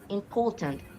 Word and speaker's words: important: And then important, important. Here, the same rule. It can be anything. And here, poor, important.